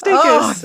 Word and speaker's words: Dacus: my God yeah do is it day kiss yeah it's day kiss yeah like daytime kiss kiss day Lucy daytime kiss kiss a little bit it helps right that it's also cool day kiss wow wow daytime kiss